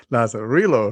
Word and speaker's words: Lazarillo: We want to welcome our friend Rene Espinoza from the Lazarillo group. I can never pronounce Lazarillo.